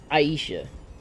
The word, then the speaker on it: Aisha: calling her Aisha bro Aisha that's how you're supposed to say it Aisha like that's how they can say Aisha they spell it like Aisha so I'm gonna call Aisha tomato tomato if you don't like